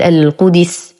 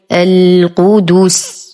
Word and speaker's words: القدس: الآية 87 كلمة القدس، الدال مضمومة، وكثير منا يعلم أن الدال مضمومة لكنه يقرأها خطأ فيقول القدس أو القدس. وللتخلص من هذا الخطأ نهيئ شفتينا بضمهما قبل نطق الحرف المضموم فنقول القدس.